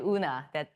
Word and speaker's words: Eun-Ah: In case you are wondering how to say my name, ignore E, then it becomes easier. Just say Eun-Ah, that's pretty good.